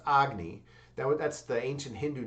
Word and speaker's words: Agni: It's actually pronounced Agny.